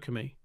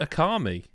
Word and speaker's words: Okami: Okami. Okay, the fact that Lyle's not reacting suggests I pronounced that wrong.